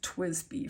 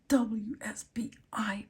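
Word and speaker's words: TWSBI: It was actually my first Twisby fountain pen and I bought it here in Albuquerque and that was when I did not know how to pronounce Twisby. I called it the DWSBI pen.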